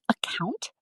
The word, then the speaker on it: account: The word account, say it like this. Account. Put the stress on the second part.